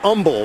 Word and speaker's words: Humble: good point it is Umble that's what Dan told me in our production meeting last night thank God for Wikipedia they backed me up on that one from the seven the H is silent who knew third and